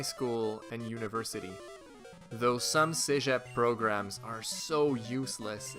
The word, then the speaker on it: cégep: You have to go through this thing called cégep. Or in English they pronounce it cégep.